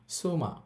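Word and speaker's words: つま: এদিকে যদি খেয়াল করেন তু এটা শব্দের শুরুতে থাকলে সু উচ্চারিত হবে। যখন শব্দের শুরুতে থাকবে তখন এটার উচ্চারণ করব আমরা সু যেমন দেখেন সুকুয়ে অর্থ হচ্ছে টেবিল। আবার এখানে লেখা আছে সুমা। সুমা অর্থ হচ্ছে স্ত্রী। শুরুতে থাকলে তখন এটার উচ্চারণ হবে সু।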